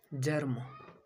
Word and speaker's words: germ: तीसरा example, GERM, जर्म, जर्म। जी के आगे ई है, तो इस किसका साउंड आएगा, जौ का, जर्म, जर्म मीन्स विकसित होना।